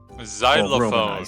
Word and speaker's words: xylophone: Xylophone Chinese. Ah, yes. Xylophone. It's like, how do you pronounce X? You know how to say xylophone? Yeah, that it sounds like it starts with a Z, right?